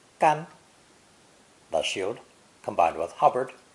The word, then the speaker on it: 干: A shield or a pestle, depending on viewpoint, is a three-stroke character pronounced gan.